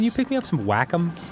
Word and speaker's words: Wacom: And I used to call it Wacom for the longest time until I needed a part. Oh, I've seen that. That's pronounced Wacom?